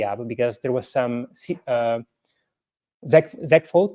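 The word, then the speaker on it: segfault: because there was some ZEG fault, that's the proper pronunciation, ZEG fault, segmentation fault, when trying to access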